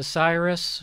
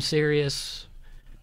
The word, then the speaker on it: Sirius: My family still can't pronounce the company I work at. What do they call it? They still say Cyrus. My mom calls it Cyrus. Oh. And then they call it XM Sirius.